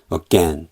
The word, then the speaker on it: again: 그리고 여기서도 이제 AG 이거를 찾아봅니다 그러면 얘는 again 발음기 자체가 어이 아니고 어이고 그리고 강세는 이제 여기 있으면은이 강세 표시 바로 뒷 음절이 강세 음절이거든요 그래서 again 그리고 강세 음절이 아닌 약세 음절의 모음은 다이 발음기호 이걸로 바뀌거든요 이게 샤 발음이라고 해 가지고